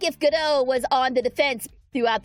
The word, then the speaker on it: Godot: He is like if Godot was on the defense throughout the game. Ah, okay. Gotcha. It's that sort of attitude. Though Godot was something else entirely.